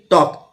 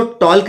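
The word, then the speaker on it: talk: रहा है ऐसे ही टी ए एल के टॉक तो इसमें एल साइलेंट है इसको टॉल्क नहीं पढ़ेंगे और एस एच ओ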